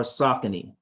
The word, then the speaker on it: Saucony: So this one in particular is for Saucony.